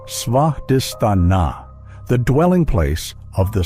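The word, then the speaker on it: Svadhisthana: It is called svadistana, pronounced svadistana, the dwelling place of the self.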